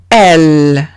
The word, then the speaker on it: elle: No se lee ella, como en español, sino que se lee como una L. Exemple, elle.